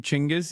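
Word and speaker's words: Genghis: Uh just learned he you pronounce his name Chingis. Yeah. Jenis.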